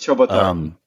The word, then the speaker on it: Ciobotaru: one with a last name that is never pronounced properly. So it's Ciobotaru.